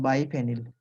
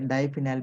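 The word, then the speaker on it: biphenyl: ठीक है, बाईफिनाइल या डाईफिनाइल भी बोल सकते हैं। डाईफिनाइल, बाईफिनाइल। कोई बाईफिनिल बोलता है, कोई डाईफिनिल बोलता है, आप जिस चीज से आप इसको प्रोनाउंसिएट कर सकते हैं।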